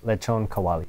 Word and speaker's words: lechon kawali: To pronounce that. Yeah, lechon kawali.